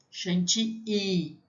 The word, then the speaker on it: chantilly: I-L-L, tem som de I, chantilly. Mas tudo bem, eu também falo, na aula eu vou falar para vocês chantilly, tá? Mas a pronúncia em francês seria crème chantilly.